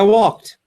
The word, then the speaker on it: walked: Because that past form, walked, has just a little bit of a t sound at the end, right?